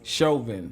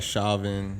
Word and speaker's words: Chauvin: I think it's Chauvin. Chauvin. Yeah. Like chauvinistic. It looks like Chauvin, or I don't know though.